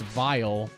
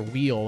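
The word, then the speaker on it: Weil: His name is spelled, I think it's W-E-I-L. So, of course, like me, I didn't realize it was pronounced Vile. And I kept calling him Dr. Wheel, and I'm like, oh, that's Dr.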